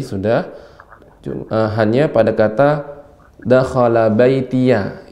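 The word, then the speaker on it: بَيْتِيَ: Rabbil firli wali walidayya waliman dakhala baitiya mu'minan walil mu'minina wal mu'minat. Nah, sudah bagus Ibu. Rabbilnya tadi sudah hanya pada kata dakhala baitiya. Ya di sini pendek. Waliman dakhala baitiyamu. Langsung cepat.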